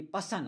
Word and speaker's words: person: अब पर्सन पढ़ें आपकी मर्जी है, लेकिन इसकी सही प्रोनाउंसिएशन पर्सन नहीं होती, पसन होती है।